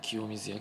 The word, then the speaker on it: 清水焼: 水ですねモーター水と書いて清水焼と言うんですけどもよくね